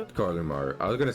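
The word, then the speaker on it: Koromaru: Please pronounce it for me. Koramaru. Kumaru.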